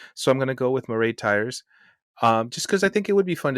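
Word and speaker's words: Máiréad Tyers: Because Mairead Tyres.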